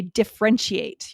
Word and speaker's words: differentiate: Uh you can't say differentiate. You have to say differentiate. We need that middle syllable.